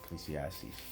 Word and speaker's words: Ecclesiastes: other chapters here and there mainly Psalms and Ecclesiastes is that how you say it ecclesiast yeah Ecclesiastes Proverbs 27 do not boast about tomorrow for